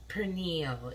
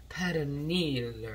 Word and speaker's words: pernil: call this pernille i'm not saying it right i'm not saying with the with the spanish accent my husband would make fun of me it's like it's not pernil it's paraneel or however he pronounces it but that's hence that's